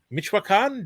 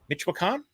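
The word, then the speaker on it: Michoacán: Okay, Joe's got me here with the pronunciation. Michoacan. Do I say it faster? Michoacan.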